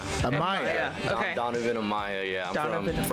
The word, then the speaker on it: Amaya: now how do you say your last name Amaya Amaya yeah okay Donovan Amaya yeah originally if uh